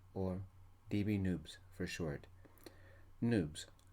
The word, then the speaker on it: Noobs: Noobs. It rhymes with tubes, as in Noobs. We are officially newbies. If somebody called us nubs, rhyming with cubs, somebody in navy blue crisps will probably break their nose.